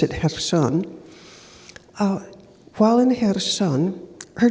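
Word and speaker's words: Kherson: spent her life in hon which looks like kerson but they pronounce it hon uh while in Heron her job she's 60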